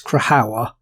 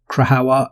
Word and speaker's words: Krajowa: Somebody did give me did put in the comments previously because I was pronouncing it wrong. I'm hoping it's Krajowa.